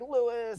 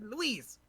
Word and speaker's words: Luis: And like he's Leon says his name wrong when he's like Lewis and all this stuff, like like it's hilarious. When he said it, I'm like, no, his name is Luis.